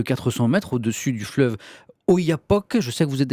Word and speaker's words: Oyapock: long de presque 400 mètres au-dessus du fleuve Oyapock. Je sais que vous êtes allé dans le coin, Oui, je prononce bien, c'est ça.